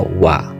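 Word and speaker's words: は: kata benda 2 Des jadi disini partikel wa ditulis ha Tapi bacanya Uwa berfungsi untuk menunjukkan subjek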